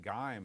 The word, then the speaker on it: GIME: I always pronounced it Gime, and I thought it was a reference to Samuel Gimes. So Well, that is a play on it. Knew about this. That is a play. Samuel Gimes' name comes from the Gimme chip, and you just mispronounce it on purpose. Okay. Rainbow Magazine kind of made it official. It's the Gimme because they said it always means give me more graphics, give me more sound,